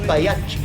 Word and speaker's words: Pagliacci: Time for the fat lady Pagliacci. Actually, Dave, the proper Italian pronunciation would be Baiacci.